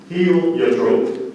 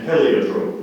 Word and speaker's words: heliotrope: There are two. Heliotrope. There's heliotrope, which is the first definition, heliotrope, which is the second, and heliotrope, which is the third. The principal pronunciation is heliotrope.